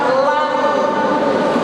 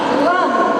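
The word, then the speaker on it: لن: Jadi coba kita lihat ayat Allah ini diawali dengan kalimat lan, walan tado akal yahudu walan nasoro, dan seterusnya. Jadi bukan la tapi lan kita membacanya.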